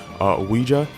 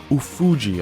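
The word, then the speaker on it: Ofuji: the head of marketing, Ouija. I don't know how you say his name. It's Ufuji.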